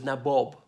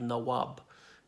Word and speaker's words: Nawab: They were known as Nabob when they came out of the United Kingdom, as in a mispronunciation of Nawab, and got into politics.